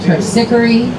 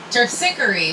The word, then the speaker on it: Terpsichore: And Terpsichore, we just totally butcher that one and call it Terpsichore.